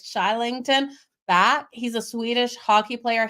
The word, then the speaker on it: Kylington: back K okay so it's spelled kylington it's said more like shington back he's a Swedish Hockey